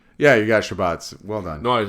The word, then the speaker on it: Shabbats: Did I pronounce that one right? Yeah, you got Shabbats.